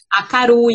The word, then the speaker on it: Akarui: Acarui. Então, a pronúncia é Acarui, gente.